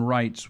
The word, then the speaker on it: Reitz: Wrights, which is spelled R E I TZ, is our guest.